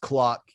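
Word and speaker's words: Klok: clock first of all my name is pronounced clock haha all right whatever just is it spelled clock uh no it's spell k-l-o-k yeah well spell it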